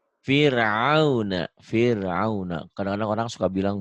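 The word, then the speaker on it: فرعون: Gimana bacanya? Fir'auna.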